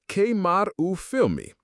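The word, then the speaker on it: queimar o filme: You might have just managed to karu film me, pronounced karu film me, literally to burn the film.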